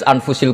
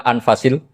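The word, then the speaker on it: أنفس: Di sini ditulis anfusil kutub. Kalau saya baca anfasil kutub karena maknanya kitab ter baik. Kalau kitab terbaik bacanya bukan anfus tapi apa? Anfas.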